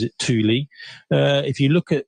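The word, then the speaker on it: Thule: um it's actually sorry I mispronounced it's actually pronounced Tuli uh and in fact I think Torin pronounces it Tuli uh if you look at what the Tuli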